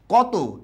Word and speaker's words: কত: comment পড়ে দিয়েছি আচ্ছা কত এই শব্দটা যে আছে এটার শেষে কিন্তু অ আছে তাই উচ্চারণটা কি হবে কতো ঠিক একই রকম ভাবে